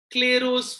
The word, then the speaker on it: Clairaut: Next one, that is the last one, as I said, was the Claros form, written as Clairot's but pronounced as Claro, Claros form.